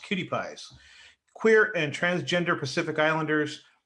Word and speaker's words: QTPIs: minds and bodies of QTPIs, pronounced cutie pies, queer and transgender Pacific Islanders through community organizing, political engagement, and cultural stewardship.